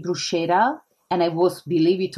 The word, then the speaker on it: bruschetta: However, I was laughing a little bit because it's actually say, well, actually it's bruschetta. It's like pistachio.